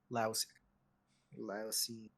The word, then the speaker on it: Laosian: Laosian. It's like Lucian, but with an A.